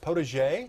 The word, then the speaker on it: potager: Well, for more info on tulips, fall gardening, and even Thanksgiving centerpieces, check out Linda Vodder's blog at potager, did I pronounce that right?